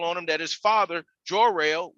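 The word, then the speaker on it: Jor-El: him that his father joe rail which is you know pronounced your l uh also gave him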